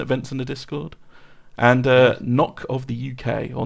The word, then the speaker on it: Knock: And Knock of the UK, or No Chuck, as it's properly pronounced.